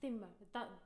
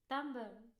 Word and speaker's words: timbre: I have a pretty stable timbre. Timbre. How do you say timbre? Timbre. Timbre. How do we say it? Timber is wood. Timber. I don't know. Okay, again. No. Timbre. You see, that's an E.